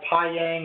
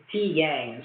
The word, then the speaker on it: pyang: It's called PyYang or Pyang or however you want to pronounce it, Pyang essentially.